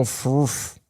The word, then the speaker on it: FFRF: But how are you supposed to pronounce FFRF? It's fooferf. Yeah. Anyway, you could change the accent. Yeah. You could just go froof.